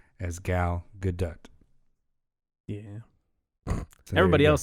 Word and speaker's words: Gal Gadot: so i went and looked it up her pronouncing her name as gal gadot yeah everybody else says gal gadot so yeah well that's wrong and everybody else